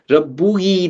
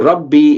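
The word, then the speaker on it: ربي: Rabbuhi doesn't really make sense to the Arabic tongue. So Rabbi is more smoother pronunciation. So what they do, they remove this haraka and just put the ya, and we know that it was Rabbu and it was ye. So you pronounce it as Rabbi, translated as my master.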